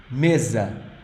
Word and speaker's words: mesa: sound e e m the S sounds like Z okay so it's not this is like a z it means table a table the on that you use in your dining room Mesa what do you think